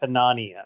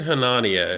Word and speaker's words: Hanania: Someone said it's like Melania, so it is Richard Hanania. Hanania? I heard Hanania.